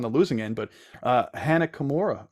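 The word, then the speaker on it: Hana Kimura: losing end but uh Hannah Kimura right that's how you pronounce her name a couple years ago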